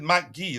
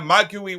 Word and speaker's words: Marc Guiu: I think he said Marc Guiu. That's how he pronounced Marc Guiu. Hello, Chelsea fans. My name is Marc Guiu. Something like that.